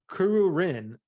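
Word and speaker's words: Kururin: wear kuruku kurin I think that's how you pronounce it um no dude it's okay I can get that but then it's Kuru Rin k-u-r-u-r-i-n so I wasn't no joke yeah I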